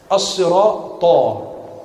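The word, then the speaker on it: الصراط: As-sirata. Ta itu qalqalah, tebal. Bukan ihdinas sirata. Tidak.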